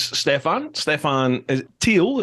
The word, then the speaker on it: Stephan Thiel: This is Stephan Thiel, is that correct? Stephan Thiel, is That's that how you right.